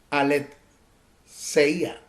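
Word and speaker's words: ἀλήθεια: En esa conversación que tuvo con Pilato, ese término viene del griego aletheia, así, aletheia, A-L-E-D-S-E-I-A, que significa sin esconder. Se usa como particular negativo del griego lanzano. Se escribe L-A-N-D-S-A-N-O, lanzano.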